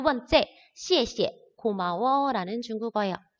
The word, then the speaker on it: 谢谢: 자, 우리가 그때는 쉐쉐라고 말을 했어요. 근데 쉐쉐는요, 잘못된 발음이겠죠. 우리 이제 한어 병음을 배웠기 때문에 얘는 시에 사성, 시에 원래는 사성인데 똑같은 단어가 두 개 나왔기 때문에 두 번째에는 발음이 경성으로 바뀝니다.